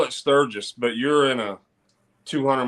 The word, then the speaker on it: Sturgis: have you ever done searches or Sturges I don't know if I pronounced that right yeah like a sturgeon fish but Sturgis right so the this year